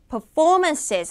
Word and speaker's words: performance: 언어 중에 하나인데 자 영어에는 정확하게 강약 조절을 하셔야 돼요 음절 다 performances 하셔야 돼 Performance 하면은 접수가 안 돼 되는 거예요 공연이라는 의미로 performances performances서 얘도 마찬가지로 이음절 강세가 되겠죠 자 복수형 단수형도여 기본적으로